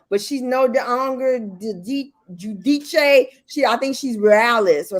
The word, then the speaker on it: Giudice: It was Giudice. Well, at first it was Judice. Judah, but then she wanted to make sure it sounded Italian. So she says Giudice, but she's no longer Giudice.